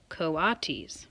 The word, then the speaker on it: coatis: These are coatis, Miss Brisbane said, reading from the letter, pronounced coatis. Oh, see, even I couldn't say that.